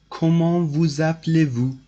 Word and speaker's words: Comment vous appelez-vous: So this is pronounced like that. Comment vous appelez-vous?